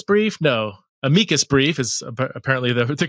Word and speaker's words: amicus: She's written several books in this area and she recently uh submitted in amicus brief no amikas brief is apparently the the correct pronunciation regarding some laws surrounding sexual orientation change efforts in the state of Colorado.